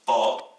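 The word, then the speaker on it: ط: Troisième paire de lettres, on a la lettre ta, le T, l'équivalent du T français, qui s'oppose au T emphatique qui se prononce ta, et c'est la lettre donc le ta.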